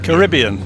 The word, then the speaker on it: Caribbean: The only one I only can't get my head around with Americans is the way they say Caribbean. Caribbean. Caribbean. That's the correct way. I say I say Caribbean. Yeah, that's the correct way. Nations of the Caribbean say Caribbean.